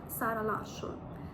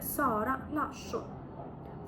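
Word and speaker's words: Zara Larsson: маємо сета сета тут Зверніть увагу що це не з як це як воно вимовляється у на нашій мові з це с с наприклад відомий магазин зара Так це буде Сара або відома співачка Сара лашу це буде Сара лашу Сара лашу далі маємо три букви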